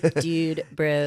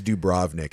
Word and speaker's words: Dubrovnik: Well, and then it's funny because we didn't know how to say it at first because we were just called it Dude Bro. Yeah. So we're like, yeah. So how are we getting to Dude Bro? And I think it's Dubrovnik actually, but it's spelled Dubrovnik.